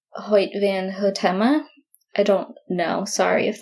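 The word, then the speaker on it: Hoyte van Hoytema: of Photography is I don't know how to pronounce his name exactly I want to say it's hoit van hota I don't know sorry if that's not right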